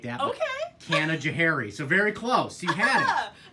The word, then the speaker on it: Canajoharie: number one um cannon jewelry very very close Kevin Johari some people pronounce it like that okay Canajoharie so very close he has okay it's like